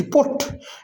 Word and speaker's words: put: BUT बट, लेकिन PUT पुट।